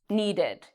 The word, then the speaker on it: needed: You're probably pronouncing it correctly, needed.